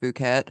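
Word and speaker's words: Phuket: was like I mean first off it's pronounced fukat but you know whatever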